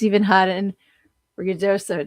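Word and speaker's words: Ruidoso: Uh, oh yeah, it's even hot in Rioso. Did I say it right? Because I kept calling it Riodio.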